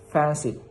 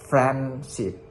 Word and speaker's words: friendship: So let's take a break that the D is deleted because D is difficult to pronounce quickly. So for the right reading, for the right pronunciations is friendship. It's not friendship.